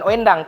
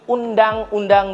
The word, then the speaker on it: Undang-Undang: Bukan bacanya bukan Owendang, tapi Undang-Undang Dasar. Itu kosakata pada zaman dahulu. Kalau dahulu itu OE itu U bacaannya.